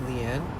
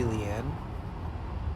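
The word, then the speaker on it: Leane: Leanne. Even with the one N, it would still be Leanne.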